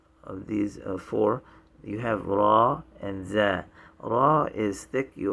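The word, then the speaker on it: ر: z a a uh raw is like the english r except when you pronounce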